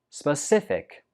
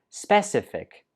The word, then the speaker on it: specific: for dessert 15 is specific specific the stress goes on the second syllable Spa stiff thick specific some students pronounce this like specific but that's not right the first syllable is pronounced Spa specific I gave you Specific